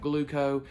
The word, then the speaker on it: Glooko: It'll just give you your CGM information, but Gluco, that's spelled Glooko, is going to give you your CGM information as well as your pump information.